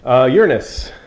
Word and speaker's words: Uranus: Okay, Uranus. That is the way it is pronounced.